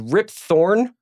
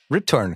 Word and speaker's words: Rip Torn: Gina Gershon Stephen tobelowski rip thorn torn torn sorry we're torn my bad I mispronounced that Rip Torn kind of wasted in